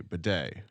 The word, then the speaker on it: bidet: Wildcat Jeff but Baudette de bidet is a silent T right the day again